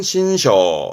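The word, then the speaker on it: 辛勝: 발음은 신셔, 신셔.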